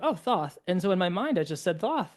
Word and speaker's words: Thoth: Me personally I just say Thoth because when I saw